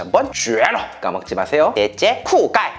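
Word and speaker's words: 酷盖: 넷째, 쿠가이. 발음이 쿨과야 비슷하죠? 바로 멋진 남자라는 뜻입니다. 요즘 중국 10대들은 잘생긴 남자를 봤을 때 쿠가이라고 한다고 하네요. 자, 따라합니다. 쿠가이.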